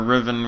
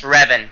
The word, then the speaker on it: Revan: I just asked I just asked or Riven what you want to call it's pronounced Revan like from uh I don't know why I like to say Riven I I don't know why but anyway so